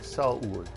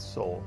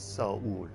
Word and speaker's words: Seoul: Sorry, Seoul is technically how it's pronounced, not Seoul. I know I say Seoul, but it's Seoul because it's 2 syllables.